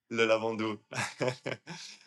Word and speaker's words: Le Lavandou: and what was life like growing up in Lavandou? I'm not sure if I pronounced that right. Le Lavandou.